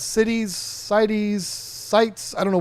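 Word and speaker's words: CITES: It's pronounced cities.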